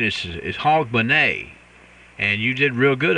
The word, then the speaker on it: Hogmanay: you said it pretty good it's a the pronunciation is Hogmanay and you did real good on that rich